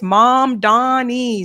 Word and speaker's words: Mamdani: I'm trying to make sure I pronounce his name correctly. A number of people told me it's Mamdani, Sabrina.